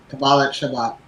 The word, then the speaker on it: Shabbat: There's going to be an interfaith pride uh uh Jeffrey, how do you pronounce that word? Shabbat.